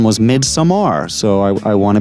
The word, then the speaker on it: Midsommar: for the longest time i was calling this mid-summer but then i i recently watched the special features with ariastor talking and he his pronunciation was mid samar so i i want to be accurate here